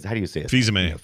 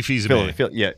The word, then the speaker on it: Fils-Aimé: I was going back and reading some articles, and you remember Phil's Ame. How do you say it? Fils-Aimé. You know, Reggie Fils-Aimé. Phil's, there you go.